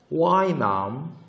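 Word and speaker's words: ว่ายน้ำ: 어떤 거냐면 와이남. 예, 이때 Y 자체가 발음은 Y. why. 예, 그래서 이 뜻이 수영하다.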